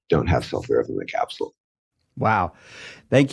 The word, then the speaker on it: sulforaphane: is no, the academic science guys, say it's sulforaphane, so I'm going to start saying it the correct way from now on.